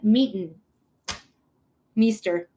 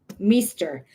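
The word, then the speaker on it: Meester: Leighton Meen Mester. Leighton Mester. That's her name and that's how you pronounce it.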